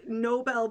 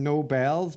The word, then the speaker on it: Nobel: sounds like i'm saying no bells but like so what what it's not nobel it is nobel nobel peace prize okay